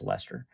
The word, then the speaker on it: Leicester: it'll pay off um leicester i think it's lester uh anything luke bronze yeah